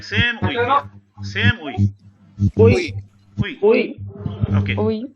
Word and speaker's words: oui: Uy. Okay. Pronunciation. Make a note. Uy. It's not oi. It's not oee. It's uy.